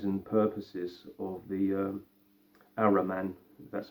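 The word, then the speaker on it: Ahriman: called the aims and purposes of the uh arrow man that's how you pronounce it um and i just had this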